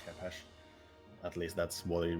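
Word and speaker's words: khopesh: I mean, it's called Kopesh in English, but apparently the proper pronunciation is Chepesh.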